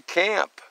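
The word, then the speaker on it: QAMP: we're talking about today up to camp where camp is spelled q a m p quality american made products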